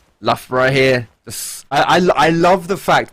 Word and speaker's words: Loughborough: There's no F in Loughborough, but their clan tag is Luff. So, because that's how you say it.